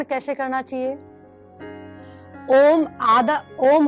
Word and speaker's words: ओम: ओम होता है, उसके आधे के अंदर हमें बोलना है ए और ऊ का उच्चारण करना है और लास्ट आधे के अंदर हमें मैं का उच्चारण करना है।